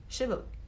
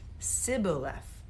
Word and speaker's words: Shibboleth: If he was from Ephraim, he would say Shibboleth. Oh. If he was from Ephraim, he would say Sibboleth. There's no H in that one.